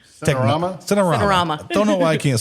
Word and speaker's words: Cinerama: Cinemarama. Cinerama.